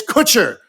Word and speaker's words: Kutcher: sorry and ashton kutcher it's kutcher rhymes with butcher i was like okay